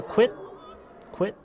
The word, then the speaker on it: quit: 왜 그러냐면 Q 발음을 하셔서 그래요. quit이라고 하셔서 그래요. quit 하면 안 돼요. Q 발음은 따로 있는 게 아니에요. 그러니까 무슨 얘기냐면 Q 발음이 Q처럼 발음 나는 경우는 Q 한 글자만 읽을 때만 그래요. 그게 단어에 있을 때는 C나 K랑 똑같이 발음이 돼야 돼요.